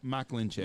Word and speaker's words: Mikulencak: I don't have the pronunciation. Mikulencak.